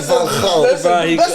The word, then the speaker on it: Van Gaal: How can a man say Van Gaal? That's how you pronounce his name.